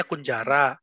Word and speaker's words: kunjara: apa ya Pak penjara-penjara Iya tapi dikunjara benar bacanya kunjara Kalau bahasa Jawanya cone Jara tetapi istilah kon jare